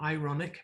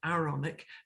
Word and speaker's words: Aaronic: be pronouncing it right, the Aaronic priesthood, not ironic, but Aaronic priesthood, are expected to be good husbands and fathers.